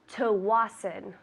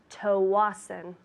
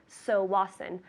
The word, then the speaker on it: Tsawwassen: I'd like to send a package to Tawasin. Tawasin. That's TSAWWASSEN. Pronounced Tawasin.